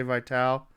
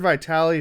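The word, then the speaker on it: Vitale: Vital, or I've heard it pronounced numerous different ways. I'm just going to say Vital, because I coached with the Vitali. I've heard Vitali, Vital.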